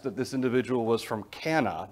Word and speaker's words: Cana: individual was from Cana, not Cana, Cana. Do you remember a wedding, or do you remember a miracle that took place in Cana? No. There was a wedding there, and Jesus turned the water to wine there, and that took place in Cana. Some people pronounce it Cana, it's fine either way.